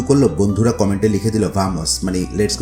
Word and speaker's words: vamos: মানে জানবো সেটি হচ্ছে বামস শব্দটি যদিও ভি দিয়ে লিখা কিন্তু এটার প্রোনাউন্সিয়েশন বা উচ্চারণটা কিন্তু বি এর মত হয় বামস গেম খেলতে বা